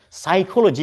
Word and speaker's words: psychology: Psychology, what is the first letter of psychology? P, but P is silent.